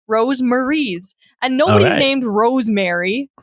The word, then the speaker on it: Rosemaries: Are you sure that's how you pronounce Rosemaries. it? Yes, because it's ROSE and then MARIES. Rosemaries.